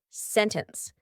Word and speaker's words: sentence: lot of comments about how to pronounce the word sentence sentence or sentence ooh I say sentence and I've gotten so many comments of people saying Freya why do you pronounce it like that how did you say that well this is a lovely concept called the glottal T gladle glus is kind